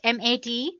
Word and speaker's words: MATE: Let me pronounce it M80 you can call it whatever you want mate or mate desktop environment.